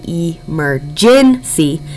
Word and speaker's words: emergency: We think to spell emergency, but we say emergency.